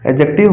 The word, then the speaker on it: एडजेक्टिव: Noun, pronoun, एडजेक्टिव, verb, adverb, noun, pronoun, एडजेक्टिव, एडजेक्टिव ही बोलते हैं उसको। एडजेक्टिव, D silent एडजेक्टिव, verb, adverb, प्रीपजीशन, प्रीपजीशन, conjunction and इंट्रोजेक्शन।